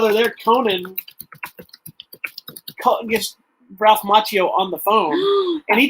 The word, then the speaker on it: Macchio: That's also one where he tells him his name is mispronounced. It should be Macchio, not Macchio. Oh my gosh!